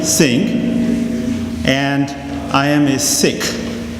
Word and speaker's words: Sikh: My name is Singh, and I am a Sikh. That is actually the right way to pronounce the name of my religion, even though a lot of people would say Sikh. It's really Sikh.